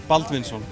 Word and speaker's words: Baldvinsson: Baldvinsson. Baldvinsson. Okay, can you pronounce Drishtidjumnen?